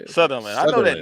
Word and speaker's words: Sutherland: Sutherland.